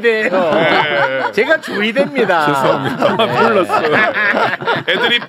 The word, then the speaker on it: 조희대: 여기에서 제가 조이대? 조이대예요.